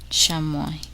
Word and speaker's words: chamois: The letter S is silent in the following words. Listen and repeat each word after the speaker. Carp, aile, chassis, debris, chamois, lille.